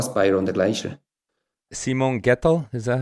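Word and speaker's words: Gietl: Simon Gettel, is that how you pronounce it? Yeah, Gettel is difficult to pronounce.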